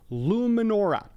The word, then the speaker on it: Luminora: It is called Luminora. Luminora. A couple of people have asked about that pronunciation.